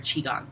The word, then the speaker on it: Qigong: It's either pronounced Qigong or Qigong. It depends on where you're from.